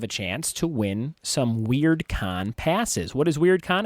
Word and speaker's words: Wyrdcon: And Weird Con is spelled WYRDCON.